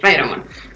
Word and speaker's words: Raidramon: Raidramon, lo pronuncié bien, ¿no? Sí, Raidramon.